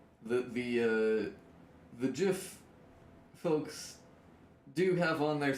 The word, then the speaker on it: GIF: that are like, no, it's got to be a hard G. They usually say, yeah, GIF, because it's supposed to be like gift. Like if you added a T to it, then it would be gift, and that's already a word.